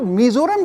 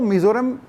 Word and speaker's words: मिज़ोरम: खुद मिज़ोरम जो शब्द है वो मिज़ोरम, वो गलत है, उसका सही उच्चारण है मिजोरम।